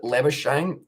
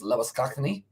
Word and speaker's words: Labuschagne: That's how do you pronounce Labuschagne. So pretty much the Australians pronounce it Labuschagne. The origin of it is Afrikaans, and that is Labuschagne, but they do call him Labuschagne.